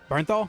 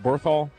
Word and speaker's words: Bernthal: Bernthal. Berthal. Yeah, Bernthal.